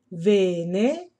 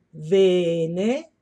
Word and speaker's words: vene: possiate pronunciare anche voi vene venne Ok sentite come la prima si divide qui Questa è lunga vene se io voglio posso allungarla quanto voglio vene Ok mentre la seconda